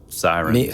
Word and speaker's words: Sirin: that like a different did I pronounce it incorrectly It's s i r i n and so maybe it really is a siren but spelled Slavic like that yeah same thing